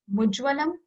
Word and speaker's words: mujwalam: this entire world so you have to join m with you whenever you are pronouncing it so it's mujwalam and mood's full income it's